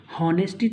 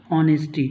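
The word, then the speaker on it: honesty: तो देखिए दोस्तों, इसी तरह से मैंने आपको एक कुछ सेकंड पहले कहा था कि हम लोग प्रोनाउंस करते हैं ऑनेस्टी। हॉनेस्टी तो नहीं पढ़ते हैं हम लोग ऑनेस्टी।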